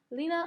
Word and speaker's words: Lena: It tells you how to pronounce it in the box. Let's try that. Lena, I've got a terrible camera.